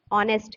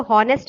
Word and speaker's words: honest: जैसे देखो for example ऑनेस्ट मैन, देखो HONEST, ऑनेस्ट, इसको हॉनेस्ट नहीं पढ़ते हैं, इसको ऑनेस्ट पढ़ते हैं।